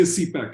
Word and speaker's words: CPEC: so the China Pakistan they pronounce the acronym so you know they'll say CPAC and they'll say that